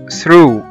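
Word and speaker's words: through: وزي ما احنا شايفين قدامنا إن الجي جه بعد منها الاتش فبقوا الاتنين سايلنت وما نطقناهمش.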